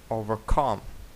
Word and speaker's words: overcome: дев'яте overcome overcomecome overcome Звісно що overcome наголос буде падати на останній склад overcome далі 10те remember Remember